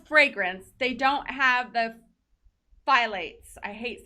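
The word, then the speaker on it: phthalates: they don't have the phylates i hate saying that word i always like to say yeah daily yeah that p is silent it took me a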